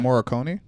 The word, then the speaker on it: Morricone: Morricone.